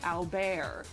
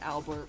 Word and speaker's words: Albert: Especially at the end it's pronounced no it's pronounced albear. The the t at the end is silent in in in Japanese they pronounce it alu. the the dubs keep pronouncing it Albert for some reason, but